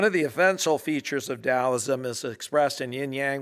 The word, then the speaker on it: Taoism: do with uh taoism frequently it's pronounced taoism so people go back and forth some people call it dausum tells them and it's